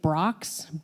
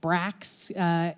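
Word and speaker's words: Brach's: charge of distributing the I think you pronounce it Brock's Brax there there's little square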